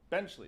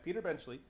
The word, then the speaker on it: Benchley: by I have my notes here finally Peter benley benchley is that how it's pronounced yeah Peter benchley I actually know that off top my I'm